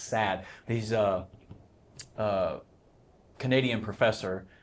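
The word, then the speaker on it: Saad: by What what what's his I forget his first name his last name is S A A D and so it's just I think it's pronounced sad.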